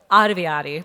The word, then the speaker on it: Ottaviani: but also Raina Telgemeier and Jim, I can't pronounce it, Paviati? Paviati.